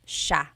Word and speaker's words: siya: The S-I-Y combination makes the sh sound in Tagalog. Some regions say siya, but in the Luzon, central Luzon area, in the Tagalog region, it's siya, siya.